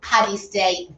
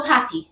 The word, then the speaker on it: Paddy's Day: starting off with some paddy's day bowls okay now it's a patchy stay or paddies no patty no no there's no patty the americans say that don't they yeah no paddy's day paddy's day jokes